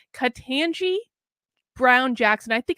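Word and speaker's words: Ketanji: for judge oh god i'm i have to pronounce her name katanji brown jackson i think it's katangi so ted cruz today grilled her about critical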